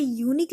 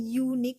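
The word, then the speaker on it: unique: पे यूनिक लिखा है, लेकिन इसका जब प्रोनाउंसिएशन करते हैं तो हम क्या पढ़ रहे हैं? यूनिक। इसमें लिखते ही नहीं बनता, वेट, यूनिक ऐसा पढ़ रहे हैं, यानी कि य से पढ़ रहे हैं, कोई भी स्वर से नहीं पढ़ रहे बल्कि व्यंजन से इसका उच्चारण हो रहा है, तो इसके साथ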